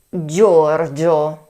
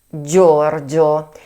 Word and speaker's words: Giorgio: Third name: Giorgio. I repeat: Giorgio. Warning! GIO is pronounced Therefore, George. Such as Giorgio Armani Who does not know of him?